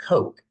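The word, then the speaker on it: kokh: Once that preparation was complete, then the body would be placed into one of these slots, which were K-O-K-H, pronounced Coke.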